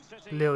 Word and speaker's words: Lille: Lil, yeah, he's pronounced Lil.